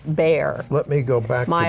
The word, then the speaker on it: Bexar: which includes San Antonio, I pronounced it as it is spelled, Bexar, but that only proved that I'm an ignoramus because it is pronounced Bear.